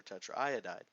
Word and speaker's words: tetraiodide: The AI and actually O, we've got a triple vowel, we're going to leave completely B and pronounce it sulfur tetraiodide.